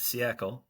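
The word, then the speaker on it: Siècle: Again, David's podcast, which I highly recommend, is Siecle. It's spelled Thesiecle.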